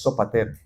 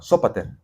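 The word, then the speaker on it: Sópater: Fíes, el primero de ellos es Sopater, la de Berea. Sóater, perdón, el acento en la O. Sóater de Berea.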